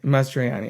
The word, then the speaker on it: Mastroianni: Mastroianni.